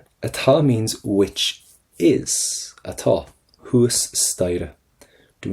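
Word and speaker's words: thuas staighre: Huas staire. Do not pronounce that H. Or sorry, do not pronounce that T. Huas staire. And do not pronounce the GH in the middle of that as well.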